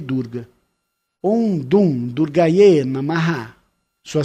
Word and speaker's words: Dum: Om Dum Durgaye Namaha. Sua sílaba semente é Dum, D-U-M.